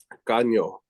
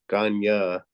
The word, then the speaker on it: caño: I've seen it spelled like that, and then I've also seen it spelled Kayna, which is Kanya. But again, it just has to do with dialect. I've heard both Caño and Kanya.